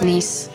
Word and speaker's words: Nice: It's pronounced niece.